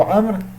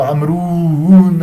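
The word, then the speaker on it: عمرو: Le waw dans le mot amr, il est là seulement pour indiquer. En aucun cas il se prononce. Donc ne cherchez pas à le prononcer en disant Amroun ou Amroun je ne sais quoi.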